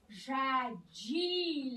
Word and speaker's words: j'haïs: Et en une prononciation à l'oral, métanthèse du « j » pour ceux qui font de la phonétique, « je ». « J'haïs l'hiver ». Ça rend ça encore plus fort.